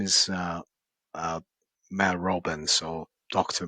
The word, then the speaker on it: Mel Robbins: Her name is uh uh Mel Robbins or Dr. Mel Robbins. Uh, sorry, she's American, so I should have pronounced her name as Mel Robbins.